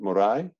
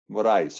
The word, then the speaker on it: Moraes: Morai? Moraes. Moraes. Okay, so the S is sounded. The S on the end actually is sounded. It's not like the French where it would be silent.